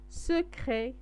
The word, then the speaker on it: secret: on va سوف نذهب explorer لنكتشف les coins هما الزوايا، secret السرية، secret تي و اس مكنطقوهمش.